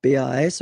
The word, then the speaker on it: pas: Okay, we write it P-A-S, okay, but as usual, final S is not pronounced, so it's pas.